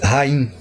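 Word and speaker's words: חיים: original está escrito assim Rim no plural que significa literalmente vidas aqui ó rim certo na pronúncia o ch tem o som de R é óbvio isso aí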